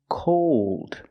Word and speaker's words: cold: two words called and cold the first word is the a sound a a called and the second word is the o sound plus the dark L cold again the first